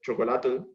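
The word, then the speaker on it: xocolatl: Luego está en el náhuatl, están los alimentos, está el chocolate, que la pronunciación del náhuatl es chocolatl, que prácticamente, si hacemos un análisis morfológico, choco significa agrio o amargo y atl significa agua.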